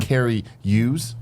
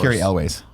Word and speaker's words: Cary Elwes: And some behind the scenes drama with Cary Hughes. Is that how you say his name? Made the franchise worse. Cary Elwes.